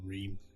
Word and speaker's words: Rime: I'm calling it, I say Rime. I pronounce it as Rime.